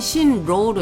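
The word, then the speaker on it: 新郎: 그 다음에 낭군 많이 쓰이는 한자는 아니지만 일단 발음만 좀 유의해서 보시면 될 것 같습니다 신랑은 신로우로 이거지고 낭군은 로우 쿵으로 읽어줍니다 쓰는 순서 가겠습니다만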